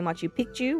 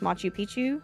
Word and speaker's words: Machu Picchu: The second is you might be hearing me say Machu Picchu, which is pronunciating both C's. That means old mountain. But if you say it like most Americans, which is just Machu Picchu, that means old penis.